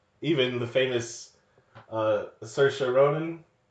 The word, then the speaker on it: Saoirse: correctly even the famous Saoirse Ronan like she's always pranking people out of France her name but it's like it rhymes with inertia so to be Saoirse I guess yeah but